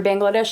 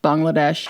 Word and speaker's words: Bangladesh: Every Bangladesh is one of my favorite videos I've ever made.